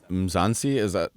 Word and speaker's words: Mzansi: And also, by the way, the concept of Mzansi, am I pronouncing it correctly?